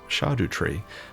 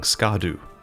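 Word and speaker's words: Scadutree: regarding its correct pronunciation apparently the word shadu comes from Old English and means shade or Shadow so this is a shadow tree and it's pronounced shadu tree or Shadow tree I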